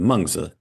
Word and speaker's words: Mengzi: I think the audience has heard us use the Mandarin pronunciation for the Chinese terms Kongzi and Mengzi. So that's Confucius and Mencius in Mandarin Chinese.